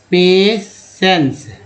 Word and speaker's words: patience: एक एग्जाम्पल है, मान लीजिए मैंने लिखा है PATIENCE, इसमें सी से स होता है, उच्चारण होता है पेसेंस, पेसेंस, जिसमें सी से स हो गया, एन